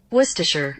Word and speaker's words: Worcestershire: right all right Google help me out here Worcestershire Worcestershire sauce got it so we add our